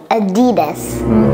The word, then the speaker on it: Adidas: athletes yes and they get Partnerships money mhm Adidas Adidas Adidas all right on for the is here the is here Adidas this Adidas Adidas Adidas all right Cody go